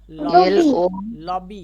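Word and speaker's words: lobby: কি লেখা আছে পড়েন লবি রাইট লবি মানে দালান লবি মানে কি এখানে বিবি একটাই ব সাউন্ড করেছি কয়টা ব সাউন্ড করেছি একটাই ব করেছি মনে থাকে যেন যেন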